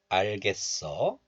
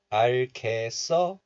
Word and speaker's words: 알겠어: So this is pronounced like 개, 써. But still, pronouncing this letter as cat, not just 개, cat is allowed. So you can also pronounce this like 겠어, 알겠어. So 알겠어 is okay, and also 알겠어 is okay too.